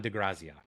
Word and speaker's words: De Grazia: I'm probably not saying it right graia d de graia that's it sorry it just popped in my